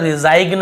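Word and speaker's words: resign: पर भी रिजाइन रिजाइन यहां पर रिजाइन ऐसे नहीं पढ़ रहे ग को नहीं पढ़ यहां पर भी साइन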